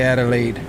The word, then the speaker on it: Adelaide: I'm going to say Adelaide.